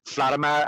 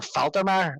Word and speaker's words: Faltermeyer: I didn't realize that Harold Flatimer actually, or Faltermeyer is his name. I always get his name wrong.